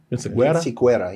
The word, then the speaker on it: Vinciquerra: Vinciquerra, yeah. Vinciquerra. How are we all getting this right before you? he's the pure, authentic Mexican in the room. I don't think you can see it. Yeah. Tony Vinciquerra recently told the Los Angeles Times that Kraven